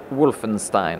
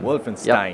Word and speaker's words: Wolfenstein: How do you pronounce it yourself? Wolfenstein. Wolfenstein.